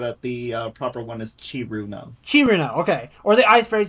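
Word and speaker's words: Cirno: powerful Trixie or the quote-unquote strongest ice fairy kerno kerno how do I say it sir no sir no whatever uh there's a lot of pronunciations people use but at the proper one is chiruno chiruna okay or the iceberg that's a cheater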